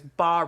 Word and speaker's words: bas: relief and then there's bar relief and and it's print it's spelled bas but it's pronounced BA what's a bar relief